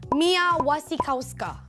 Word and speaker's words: Mia Wasikowska: Mia Wasikowska. Tapi sebenarnya ni ejaan dia. Tapi sebenarnya cara betul sebutan dia adalah Mia Wasikowska.